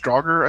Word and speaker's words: draugr: because they had draugr the d-r-d-r-a-u-g-h dragger i think is pronounced they were like spirits